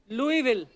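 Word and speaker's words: Louisville: आगे तभी बढ़ेंगे लुईस जब लिखा है तो स क्यों नहीं बोल रहे जैसे नाइफ में क साइलेंट होता है के साइलेंट होता है वैसे वो तो के पहले आता है ये तो बीच में घुसा हुआ है बट कई बार लुईस प्रोनाउंस होता है एस के साथ और कई बार नहीं वो कई क्यों नहीं होता है कब होता है ये मुझे पता नहीं है मेयर ऑफ लुई विले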